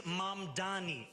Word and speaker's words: Mamdani: The name is Mamdani, M-A-M-D-A-N-I.